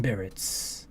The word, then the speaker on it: berets: PT is short for physical training and the green berets. Berets. The T is silent.